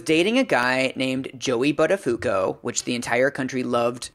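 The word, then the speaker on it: Buttafuoco: Joey's poor choices but his name is actually pronounced buttafuco what so we don't have to be guilty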